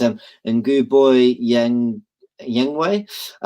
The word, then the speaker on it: Ceballos: Sorry if I pronounce his name wrong. It's Nguboy Yengwei.